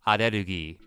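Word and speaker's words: アレルギー: It sounds dumb, but allergy in Japanese is pronounced arugi.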